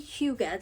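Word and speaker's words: hygge: of motherhood so holy Huga that's how that's pronounced for the longest time I thought it was pronounced H because I had no idea is Huga it is a Danish word and this says uh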